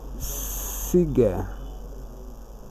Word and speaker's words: cigar: The option D is pronounced as cigar.